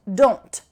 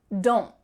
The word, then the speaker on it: don't: The T is really clearly pronounced, don't. Or you could say it quickly, kind of relaxed, maybe lazy style, don't. There's not really a T that's coming out, don't.